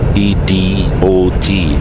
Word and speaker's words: Edot: By the way, we call him Edot. E-D-O-T. E-dot. But we pronounce it Edot.